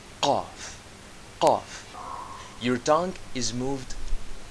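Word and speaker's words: قاف: Qaf is pronounced as a strong kaf. Imagine the point of your soft palate while your tongue touches your upper throat. K. K, as in the letter K.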